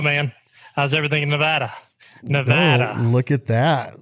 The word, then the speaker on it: Nevada: you do it man how's everything in Nevada Nevada look at that said it right man i'ma